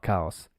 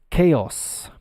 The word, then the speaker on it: chaos: s season at cows now it's not cows it's chaos in English it's pronounced chaos chaos c-h-a-o-s chaos complete